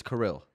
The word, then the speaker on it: Kirill: out - call me whatever Cheers but it's kirill kirill yes Kirill I said it right yeah